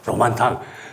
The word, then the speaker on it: 로만탕: 로만탕. 서양 사람이 발음을 잘못하려 로만탕인데 그걸 무스탕이라고 이렇게 발음해가지고 그랬는데, 로만탕으로 가가지고 로만탕에서 이제 쭉 걸어 나가면 바로 국외왕국이 나와요.